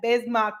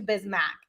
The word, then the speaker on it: Bismack: at the very beginning the pronunciation guide clearly said bismarck biamo and now it is updated to bismack but nobody i mean